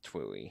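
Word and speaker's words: TWEWY: Pronounced Twooey.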